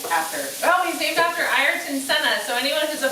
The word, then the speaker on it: Ayrton: His name is Ayrton. Ayrton. And he, tell him who he's named after. Well, he's named after Ayrton Senna, so anyone who's a Formula One fan,